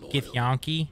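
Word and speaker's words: githyanki: serve the gith Yan it is to the people pronounced giank not to the Lich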